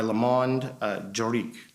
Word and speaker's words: Le Monde Juridique: the Business Legal Advisor of the Year by Le Monde Juridique. Is that correct? That's correct. And did I pronounce it correctly?